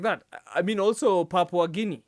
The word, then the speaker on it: Papua: Actually, pronunciation is it's Papua.